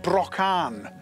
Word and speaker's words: Brychan: Brychan was a king of Irish descent, and some say his name would have originally sounded more like Brocan, which comes from the word broch, meaning badger.